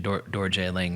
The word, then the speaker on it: Darjeeling: name thunder because uh darjeeling uh or like you know the more like i think the less british pronunciation dorje lang means land of thunder